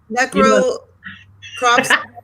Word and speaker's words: necropsy: Necropsy? I can't say it right. Oh, necropsy.